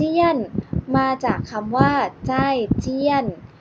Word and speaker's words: 再见: คำ ว่า ลา ก่อน ภาษา จีน พูด ว่า ใช่ เทียน คำ ว่า เจอ กัน ใหม่ พรุ่ง นี้ ภาษา